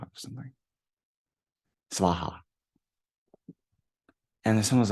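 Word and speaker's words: svāhā: And I was like, "Yeah, my guru taught me the mantra, Om Chule Chule Soha, or something, Svaha."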